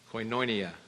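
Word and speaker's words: koinonia: Word Fellowship comes from the strongs 2842 and it's spelled k o i n o n i a coinonia that word literally means partnership partnership communion to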